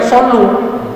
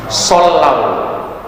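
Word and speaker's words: صلوا: Biasanya kita bacanya sallu, mestinya sallau, karena dia jadi khobar jumlah dari kalimat al-mala.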